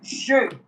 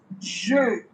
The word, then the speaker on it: je: Now, I in French is je. It's not J. It's not J. It is je.